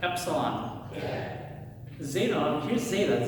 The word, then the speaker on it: zeta: epsilon zeta here's zeta zeta is kind of interesting has a d and a z. So zeta be you start with a d like you're going to say duh but then you just kind of like rob it with a z.